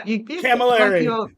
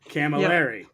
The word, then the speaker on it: Camilleri: Did I say it right? I think so. Camilleri. Yeah, Camilleri. Yeah, that's it. Camilleri. Not quite calamari. Camilleri.